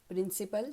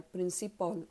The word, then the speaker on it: principal: प्रिन्सिपल spelling आहे PRINCIPAL. बरेचदा याचा उच्चार प्रिन्सिपॉल असाही करतात, तोही योग्य आहे. प्रिन्सिपल किंवा प्रिन्सिपॉल.